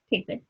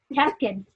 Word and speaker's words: Tapken: It's like tap dancing Ken doll. Oh, there. Tapken. Tapkin. Instead of saying napkins, just say Tapkin. There you go. Right. But there's an E instead of an I.